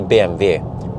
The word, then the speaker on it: BMW: but people call it bmw uh but it's it's actually in in german again the w is pronounced as a v sound so they just say bmv yeah and it okay